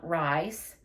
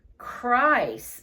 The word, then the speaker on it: Chryse: "Not rice. Chryse," said Brianna, sounding it out.